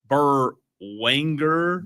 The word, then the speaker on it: Berwanger: Burwanger. Wanger? Wanger? Wanger? Berwanger.